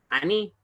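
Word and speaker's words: אני: yo, que en hebreo se dice ani. Ani, miren, una hirit yud. Ahí tenemos una hirit yud. Miren, ani, es una I corta.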